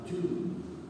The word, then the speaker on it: tomb: Now, tomb, but tomb in Constantine one. I say tomb because I come from somewhere else. Tomb, there's a B, but it's not pronounced.